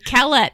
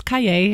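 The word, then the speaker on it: Callet: how to say them no Calot no it's Calle or you know why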